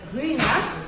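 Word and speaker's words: Ruinart: We pronounce it as Ruina, and we pronounce the city as Reims.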